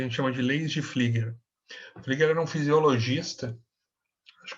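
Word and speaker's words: Pflüger: Agora, eles vão fazer o que a gente chama de leis de Flieger. Flieger era um fisiologista, acho que é alemão, né? E o Flieger se escreve Pfluger, P-F-L-U tremado G-E-R, tá?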